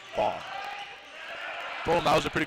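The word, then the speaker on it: Ban: Funny thing about James is he let me know that it's spelled B-A-N as the Raiders get another point here, but in Croatian they pronounce it Bond.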